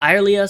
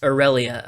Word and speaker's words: Irelia: Irelia searches for a water source. Okay, I just double checked. It's Aurelia. Okay, that's what the pronunciation robot told me. I'm just gonna go with Aurelia.